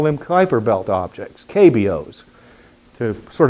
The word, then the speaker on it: Kuiper: pluto and it was cooper actually properly pronounced kuiper in the dutch pronunciation this keiper who predicted